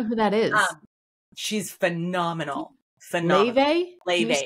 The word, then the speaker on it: Laufey: Leve, and it's spelled Laufey because she's Icelandic.